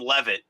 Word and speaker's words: Levitt: We bought our company in Atlanta from a guy named Levitt, and it was spelled the same way, and he pronounced his name Levitt.